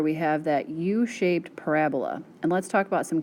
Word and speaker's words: parabola: which again is a u-shaped graph and it's pronounced parabola not parabola so you'll see later in the notes these